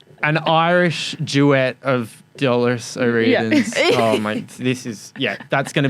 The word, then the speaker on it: O'Riordan: Is that Dolores O'Riordan?